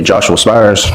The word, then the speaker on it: Joshua Spires: Can you state your name for the record and spell it for the court reporter? That'll be Joshua Spires.